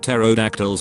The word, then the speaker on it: pterodactyls: I feel like pterodactyls would be a nuisance. They would urinate all over us and we wouldn't even notice. You would probably notice it, just not hear it. The P is silent.